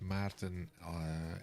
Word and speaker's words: Maarten: I think you pronounce Maarten as Maarten. It's a little bit like Martin, then Maarten.